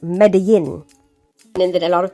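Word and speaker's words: Medellín: that's the plan so she's in medalin I just found out that it's meant to be pronounced medin and then a lot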